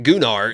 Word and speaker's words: Gunnar: agree it's not good stop saying it is gular it literally is the Chad confirmed it it's gunar that's how you say it and they're just they're